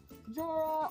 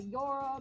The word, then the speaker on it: Jorah: Jorah, or you could say Yora, because in some countries it's pronounced that way.